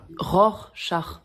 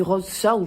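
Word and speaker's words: Rorschach: faire un petit test de rose char quoi ROR char oui c'est ce que j'ai dit non vous avez dit rose char je veux pas le savoir mais on dit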